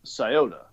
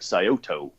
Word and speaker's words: Scioto: And the name of the river is Scioto. Scioto. And if you look at it, it looks like Scioto.